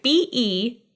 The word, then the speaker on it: Beelzebub: B-E-E-L-Z-E-B-U-B. Beelzebub. Like Beetlejuice.